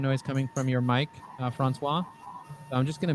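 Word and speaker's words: François: Francois, right? Did I say it correctly? Francois. He is following our LinkedIn company page. You can see he's following our LinkedIn company page. Did I say it right, Francois? Yes? That is correct.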